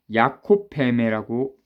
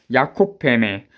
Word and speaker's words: 야콥 베메: 음, 야콥 베메라고 읽네요. 야콥 베메.